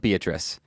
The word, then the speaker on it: Beatrice: By the way, the town is called Beatrice. It's not Beatrice? It's spelled Beatrice, but they all pronounce it Beatrice.